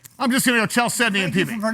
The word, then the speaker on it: Chalcedony: I'm just going to go Chalcedony and thank you PB. for pronouncing it correctly, thank because there was a newscaster yesterday on Detroit. Who said Chalcedony, didn't he? I don't know. Calcadony.